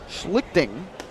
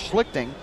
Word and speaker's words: Schlichting: to one and one and schlichting that's the correct pronunciation there's a called strike count 101. s-e-h-l-i-c-h-t-i-n-g we'll go with schlichting got the first save